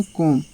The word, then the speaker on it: comb: अब यहाँ पे दिया है एक वर्ड COMB, यानी कि यहाँ पे क्या है, बी साइलेंट हो गया है। कि क्यों पढ़ेंगे, क्या पढ़ेंगे, कॉम।